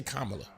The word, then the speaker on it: Kamala: Kamala. I say Kamala.